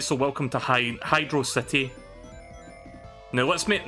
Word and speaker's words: Hydrocity: and that lesson is it's pronounced hydro city not hydrocity it's hydro city we're